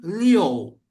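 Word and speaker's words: 六: Nah, ini jangan dibaca iu ya. Contoh ya. ah liu, kata liu atau liu nada enam ya. Liu, enam. Nah, ini kalau aku bacanya Leo, Leo, betul nggak Lause? Betul sebenarnya, tapi lebih terdengar lebih fasih Leo, Leo. Jadi ada O sedikit saja, ya, ada O sedikit saja di tengah, ya, dan itu ringan, nggak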